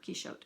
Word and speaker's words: Quixote: I just call it Quicksote but I've heard Keeshote as well. So, I'll be saying Quicksote and you'll have to just interpret that in your own head if you pronounce it otherwise.